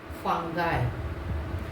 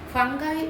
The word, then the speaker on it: fungi: In plural, we say fungi. Fungi is American English. That is American English pronunciation, that is fungi.